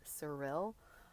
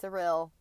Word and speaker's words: Cyril: before you know spoken so anyways it's suril as far as I know no now not Cal and maybe some listeners already knew that and maybe it's not Cil maybe that's just how they pronounced it maybe it's Cal or something anyways um so